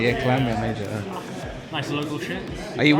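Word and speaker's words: Llantwit Major: I always say Lanwit all the time. Clan, yeah. Lan. Oh, yeah, it's Clan, isn't it? Yeah, Clanwit Major.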